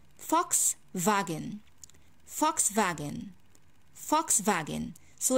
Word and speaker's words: Volkswagen: silence so right now omni how can i pronounce this chord brain let's go i say fox wagon vox vagan vox vagin so it's not volkswagen we do not read what's in front of